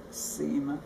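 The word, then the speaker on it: Simon: guinta semen which is which is spelled s-i-m-o-n and pronounce sema semen semen then um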